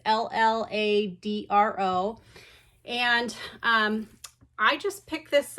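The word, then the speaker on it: Lladró: I don't know if that's how you pronounce it. It's Lladro.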